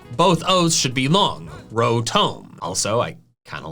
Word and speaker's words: Rotom: The official pronunciation is rotom. Rotom. I get this pronunciation since its name ends in T-O-M, which is Tom, not T-O-M-E, which is tome, which was what I'm saying.